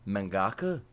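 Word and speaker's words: 漫画家: who escaped the industry even referred to it mangaka that's how you say it mangaka I thought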